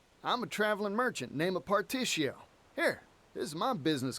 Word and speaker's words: Partitio: Y al final tengo razón, se pronuncia como Partitio, como una sh al final.